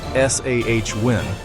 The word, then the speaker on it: Samhain: This doorway into the darkness of winter was a festival called Samhain, pronounced roughly S-A-H-Win.